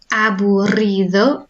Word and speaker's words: aburrido: So aburrido. If you can roll your R's with a double R, then do. If you can't, then just try and make that a longer R sound.